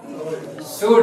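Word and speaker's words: should: दो there shall का शुड L silent है सही बोला आपने इसमें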